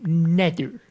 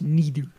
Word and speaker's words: Nether: I believe you will find that it is actually pronounced nether, not neither.